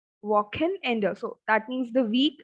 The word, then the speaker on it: Wochenende: So for weekend, the word is Wochenende. So the article is das or Wochen and then ender. So we have double en two times. Wochen ender. Wochen ender.